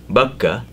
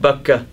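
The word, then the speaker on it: Baca: In the Old Testament, there is passage in Psalms where it refers to the blessed valley of Bakka, or Bakka as they call it, B-A-C-A is the way they spell it.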